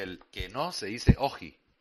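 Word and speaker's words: όχι: Eh, en griego de sabemos que el que no se dice oji, oxi, oji, que el oxígeno es aquello que permite oxidar la vida, es el consumo de la vida para un bien superior.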